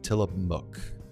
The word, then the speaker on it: Tillamook: The MOOC is pronounced like book. Tillamook.